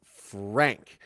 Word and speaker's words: Franke: you so much Sher Duncan you say it's Frank good to know because I've heard it pronounced two ways I heard the lawyer pronounce it Frankie and I've heard the news agencies pronounce it